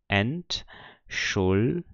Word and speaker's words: Entschuldigung: Eu tenho Entschuldigung. Ou seja, o G ele está acompanhado de uma vogal, U, então ele forma uma nova sílaba aqui. Por isso ele é pronunciado como se fosse um G normal.